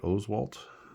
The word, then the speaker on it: Oswalt: And yes, that's how you say it, Oswalt. Looks like Oswalt, but the O is long.